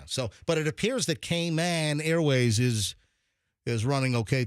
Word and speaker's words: Cayman: very good yeah so but it appears that kman Airways is is running okay today hopefully it also appears that kman Airlines is pronounced came in Airlines no it's yeah I mean everybody knows